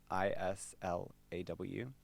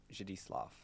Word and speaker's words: Zdzisław: okay, ZDZISLAW. And then my parents call me Zdzislaw, if they want to say it like Zdzislaw. But then, like, I think in Polish it's Zdzisław, but then I don't really know.